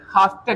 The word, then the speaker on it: have to: लेकिन अंग्रेजों की जो साउंड होती है, नेटिव इंग्लिश स्पीकर्स जो होते हैं, उनके प्रोनाउंसिएशंस होते हैं आई हैव टू बोलते ही नहीं, वो बोलता है इसके जगह पे हाफ्ता।